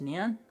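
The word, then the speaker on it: Nuun: They're spelled N-U-U-N, but they're pronounced neon.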